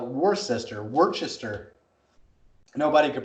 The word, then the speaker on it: Worcester: massachusetts it's spelled w-o-r-c-e-s-t-o-r worcester so everybody called it war sister worchester nobody could pronounce